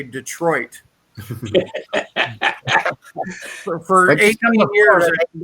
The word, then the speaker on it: Detroit: No, it's just Detroit. Then there's the mispronunciation of Illinois to Illinois.